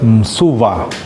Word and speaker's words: мсуа: И, допустим, вот слово «мсуа», «мсуа» это «псо» или «мсо» это крыло. Они произносят как «мсува», вставляют вставной «ва».